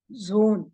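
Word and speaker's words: Sohn: for sun it is Zone in German so again here the H is silent so it is pronounced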